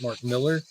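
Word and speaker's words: Mark Millar: the next number but Martin Miller is back or how he pronounces it Mark Miller follow up the big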